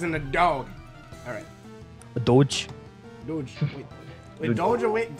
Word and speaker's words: doge: D-O-G-E. What is the meme? That's what Isn't I mean. It like doggy? Isn't it doggy? It's doge. For some reason, I'm not sure why it's pronounced that way.